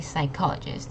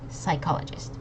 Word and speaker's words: psychologist: explanation there it's actually psychologist this P does not pronounce so it's just psychologist okay okay okay I try it again theologist psychologist okay remember this is a Sy y psychologist okay okay mhm all